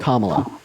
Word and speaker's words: Kamala: Also, it's pronounced Kamala.